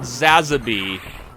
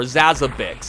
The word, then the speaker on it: Zazabi: And it took the form of a giant purple alien condom monster called Zazabi. Or Zazabix, however you want to pronounce it. I've heard it both ways.